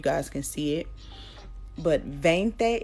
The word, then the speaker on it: veinte: can see it but veinte is how it's spelled but bang thee is normally how they pronounce it like the B's and the v's sometimes will will go back and forth it'll be an alternate thing with the sounds um and I'll go